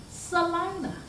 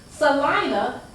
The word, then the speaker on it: Selina: Well, that's the way my mother's grandmother's name was spelled, but it's pronounced Selina. Selina, like my grandfather, Lawrence